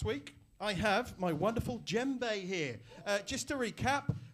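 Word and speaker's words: djembe: so like last week i have my wonderful gem bae here uh just to recap this is a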